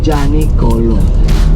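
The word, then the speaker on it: Gianicolo: janikolo Bapak Ibu e ini kalau bahasa Itali I itu tidak disebut ini kan tulisannya janolo bacanya janolo iya that's why kayak e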